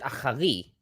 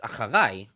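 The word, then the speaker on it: אַחֲרַי: You said achari. It's acharai, right?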